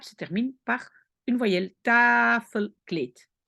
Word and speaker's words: tafelkleed: Cette syllabe se termine par une voyelle, tafelkleed. Pourquoi le D à la fin est un problème? Parce qu'en néerlandais, à la fin, on dit toujours T. D ou T, on prononce T.